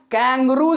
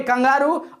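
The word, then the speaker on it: kangaroo: हिंदी में कंगारू होता है और इंग्लिश में कैंगरू होता है।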